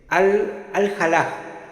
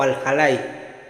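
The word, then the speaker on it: Al-Hallaj: Este es Al-Jalaj o Al-Jalay. depende la pronunciación, que además de ser místico y todo, también hablaba mucho del tema de la poesía y todo.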